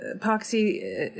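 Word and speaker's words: Pochsy: she is um uh epoxy um is spelled P O C H S Y. It's an anagram for psycho and it um is meant to rhyme with the pox.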